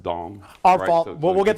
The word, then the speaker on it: Deng: It's spelled Deng, but I think it's pronounced Dong.